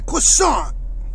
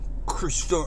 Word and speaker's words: croissant: we go it's a croissant okay you gotta say it right croissant right not Christian I don't know how